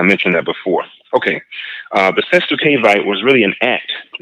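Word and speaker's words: cestui que vie: There was something called the SCURV, and I'll spell it. It's called CESTUI. The next word QUE. Next word VIE. The SCURV, that's a Latin word, and it just refers to a certain type of trust.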